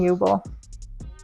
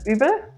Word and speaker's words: Uebel: So yeah, it's Jubel. What's your last name? Jubel. Jubel? In German, you pronounce it Übel, but that's a train wreck here.